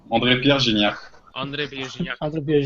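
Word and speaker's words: André-Pierre Gignac: No, lo pronuncian muy bien, es así. André Pierre Gignac.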